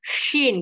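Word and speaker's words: ش: Pengucapannya itu hampir sama karena sodenya itu tadi itu nggak dinaikin pangkal lidahnya, jadinya dia hampir sama dengan shinnya gitu loh.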